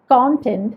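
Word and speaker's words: content: അങ്ങനെയാണ് ഉപയോഗിക്കുന്നതെങ്കിൽ ഈ വാക്ക് നമ്മൾ പ്രൊനൗൺസ് ചെയ്യുന്നത് കോണ്ടൻറ്റ് എന്നാണ്. കോണ്ടൻറ്റ്. അപ്പോൾ അവിടെ CON എന്നുള്ളിടത്ത് ആ ഒരു O എന്നുള്ള ഉച്ചാരണം വരുന്നുണ്ട്.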